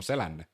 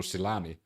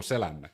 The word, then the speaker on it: Selänne: For example, Teemu Selänne, not Teemu Silani. Teemu Selänne. We know how to pronounce it.